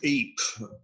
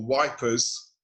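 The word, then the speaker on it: Ypres: when the germans occupied the city of eep or ether as it's known or wipers as the english troops used to call it because they couldn't pronounce it in french or flemish belgian and and they maintain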